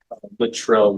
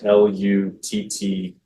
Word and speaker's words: Luttrell: Littrell is Luttrell. I'm sorry, L-U-T-T. Luttrell.